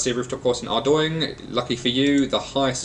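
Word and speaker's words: Ardougne: Despite what it's spelt, it is actually pronounced Ardoing. It looks like Ardoong, Ardugny, Ardown. It's actually Ardoing.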